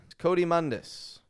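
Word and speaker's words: coatimundi: This Coatimundus, with the flap T and the Cody.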